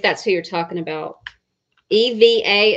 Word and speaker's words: Eva: Eva is her first name. And it's pronounced Ava.